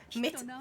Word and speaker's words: mitt: Mina nem är over. Det är min alias. I think that's right, but with some mispronunciations.